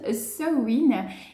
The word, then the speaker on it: Samhain: Donc ça s'écrit Samhain, mais ça se prononce Samhain.